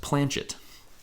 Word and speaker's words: Planchette: So along with the board, it'll come with something called I believe it's pronounced Planchette. I've never heard it pronounced Planket, so I think it's Planchette.